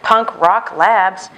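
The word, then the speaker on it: Punk Rawk Labs: I also found a new brand, Punk Rock Labs. Punk, spelled like you think, rock, R-A-W-K, Punk Rock Labs.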